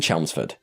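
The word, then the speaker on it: Chelmsford: include it this horrifying entry begins and I'll pronounce it correctly this time in chelsford Essex in June of 2019 in chelsford specifically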